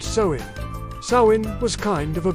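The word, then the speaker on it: Samhain: It ended on October 31st with a massive festival called Sain pronounced sewing.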